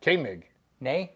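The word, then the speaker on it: Koenig: exact same spelling and he told me how to pronounce his name and it was k a y n i g but it's spelled k o e n i g and you pronounce it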